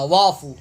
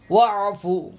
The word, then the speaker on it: واعف: پڑھتے ہیں، وافو انا، وافو وافو پڑھتے ہیں، وافو، الف خالی پڑھ رہے ہوتے ہیں، جو غلط تلفظ ہے مہربانی کر کے اس